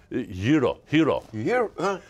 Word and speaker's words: gyro: I mean, I like is it gyro or gyro? Hero. Hero. Hero. It sounds like the H-E-R-O, but it's pronounced, it's spelled G-Y-R-O.